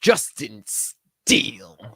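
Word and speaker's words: Justin Steele: at you didn't pron I don't think you pronounced it right I didn't Justin steel thank you so much Eric appreciate that so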